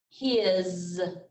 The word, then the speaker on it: his: like a z and this word here sounds like a z but it's not a z has has he is his and one more as